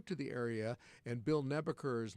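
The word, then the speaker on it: Nabeker: And if you are new to the area and Bill Nebucher is not a name that you're familiar with, I would invite you to Google it or do whatever. Nebur is spelled just like it sounds.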